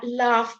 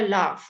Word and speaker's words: laugh: a f okay so laugh so I put it in inverted commas just to remind you that the GH is very often not pronounced at all though or else it's a f sound laugh cough tough okay